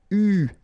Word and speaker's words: eu: so it's an exception, it is pronounced U, okay? U, that's the way you should pronounce it.